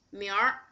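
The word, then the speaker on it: 明儿: Another example, 明天, but if you 儿化明天, it will be 明儿. 你明儿干什么？明儿。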